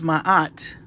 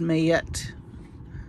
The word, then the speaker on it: Ma'at: believe in 2016 and I thought this was Maat but in the article it says it's pronounced mayet so right there I